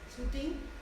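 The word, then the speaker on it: Soutine: Ponemos este ejemplo del que no tengo poema, pero este bodegón de Shea Sutin, ¿cómo se pronuncia, Mame? Sutin, Shea Sutin, veis que es un bodegón expresionista,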